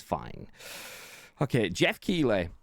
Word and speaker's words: Keighley: Okay, Geoff Keighley, not Keighley, not Keighley either, or whatever other name you want to pronounce it.